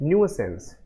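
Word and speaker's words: nuisance: इट इज न्यूसेंस। इट इज न्यूसेंस, है ना, न्यूसेंस। बड़ा अजीब शब्द है, प्रोनाउंस करने में दिक्कत लग रही होगी ना, न्यूसेंस। आप इसको पढ़ो ऐसी, न्यू सांस, न्यूसेंस, न्यू सांस।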